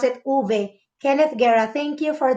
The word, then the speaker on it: uve: they normally use the word v uve they pronounce it uve kenneth guerra thank you for this lesson ma'am